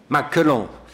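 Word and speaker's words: 马克龙: si vous connaissez le nom chinois de macron maclan c'est comme ça qu on le prononce et bien emmanuel macron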